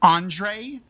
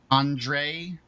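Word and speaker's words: Ondřej: them in chat uh their names are both Andre spelled like checks spell it which is o-n-d-e uh d-j-e-a Andre it's like fantastic and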